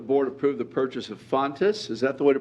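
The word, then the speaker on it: Fountas: It is recommended that the board approve the purchase of Fontes, is that the way to pronounce it?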